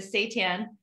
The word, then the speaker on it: seitan: but it's just nice, especially with like the seitan turkey.